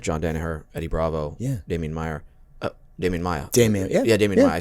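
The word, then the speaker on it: Maia: amazing people like John Danaher, Eddie Bravo, Damien Maya. Damien Maya. Damien Maya. I said it right. Yeah. Oh my You God. said it with like an accent. Damien Meyer.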